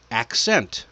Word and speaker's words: accent: Accent. That's another one. First hard then soft.